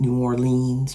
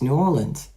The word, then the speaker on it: New Orleans: I know some people pronounce it New Orleans, but it's New Orleans actually.